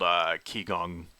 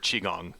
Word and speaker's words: Qigong: You have Tai Chi, another one called Qigong, or Qigong, excuse me, that's how it's pronounced.